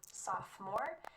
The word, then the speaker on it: sophomore: 10th Grade you're a sophomore notice that the O in the middle of this word is silent sophomore if you're in 11th